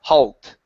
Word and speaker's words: halt: the word halt okay pronounce that l sound make sure that your tongue touches the top of your mouth Hal halt halt okay one more